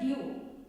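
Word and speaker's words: due: For example, if you read the dew, here D-U-E is the spelling. Only you will pronounce the phonic sound of the U. E remains the silent.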